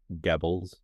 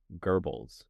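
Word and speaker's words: Goebbels: Gibbles. How do you say it? Like Germans say it. How do they say it? Gerbles. Gerbles. Yeah, that makes sense.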